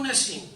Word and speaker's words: Nassim: Pensábamos darle Siria, pero como en España cuesta pronunciar el Siria, le hemos dado Nassim, pero ya no pronuncian Nassim, cada uno le llaman Nassim, no pronuncian la M.